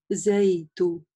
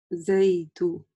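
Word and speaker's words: زيت: Зайту. Зайту. Да, то есть не зайх. Ту или за ту, частые ошибки, вот эти постарайтесь сразу их избежать и не допустить.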